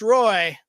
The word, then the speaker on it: Roi: So, here is Lewis Roy. His last name is spelled ROI like return on investment with his version of the American Space Giants theme.